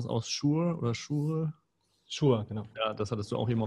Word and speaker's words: Shure: Webcam-Mikrofon und im Vergleich dazu vielleicht dieses, wie spricht man das aus, Shure oder Shure? Shure, genau.